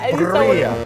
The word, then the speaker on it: birria: How do you roll your R's? I don't get how you could do that, but I want to. I know, you know, but it's birria.